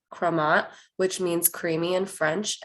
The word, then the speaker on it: Crémant: napa valley california the commonly used name is pronounced chromat which means creamy and french and it refers